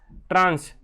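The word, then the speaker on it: tranche: ठीक है, ट्रांस, ट्रांस बोलते हैं, ट्रांच भी बोलते हैं बहुत से लोग, ट्रांस ज़्यादा सही है, अप्रोप्रिएट इसका उच्चारण है या हम बोल सकते हैं प्रोनाउंसिएशन है, ठीक है।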